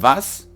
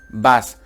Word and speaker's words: was: Recordar que no es simplemente decir was, sino es como si la V, en este caso la W de vas, arrastra la W, en plan como si, aguántatelo un poco en la boca, no digas vas, di vas, machst du da.